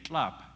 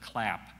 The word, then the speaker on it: tlap: Indian standards of pronunciation prevailed as the best way to say words, and so you would say tlap for to get instead of clap, and you'd say kalachen for a fence instead of Callahan.